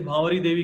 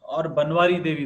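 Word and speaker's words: Bhanwari Devi: Okay, so that is Bhavari Devi case. It was a very, or Banwari Devi, both kind of pronunciation are there if I'm recalling it right.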